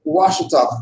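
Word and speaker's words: Ouachita: They also changed the spelling of Washita to Washita, O-U-A-C-H-I-T-A, a European misnomer that retained the pronunciation of the original name.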